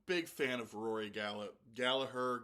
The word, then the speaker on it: Gallagher: This to me, uh, I I'm a big fan of Rory Galla, Gallagher, Gallagher. I listen to Irish people when they're pronouncing Irish names, and Irish people pronounce it Galaher.